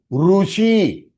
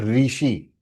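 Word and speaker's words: ऋषि: Uru, it is not ri. मैं कितने लोगों के वीडियोस देखता हूं, they pronounce this as a ri. For example, ru, short one, first one, ru, rutu, and dirgha means the long one, the other one, ru, rutu, rushi. It is not rishi.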